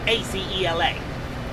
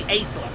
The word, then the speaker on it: Acela: It's spelled A-C-E-L-A. Yes. So it's got to be Acela. That sounds better, actually.